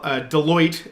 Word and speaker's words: Deloitte: Meanwhile, Deloitte, as I understand the accounting firm is pronounced, has come out with their report yesterday, which was quite a bit different from BC Hydro's report.